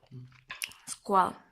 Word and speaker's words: Skål: Skål.